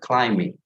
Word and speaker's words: climbing: now i went climbing last week i went climbing so we do not pronounce the p i mean climbing all right